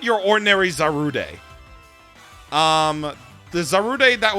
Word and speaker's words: Zarude: be our guinea pig this is zaru day or zarud pretty much zaru day if you want to go with the official japanese pronunciation this pokemon looks pretty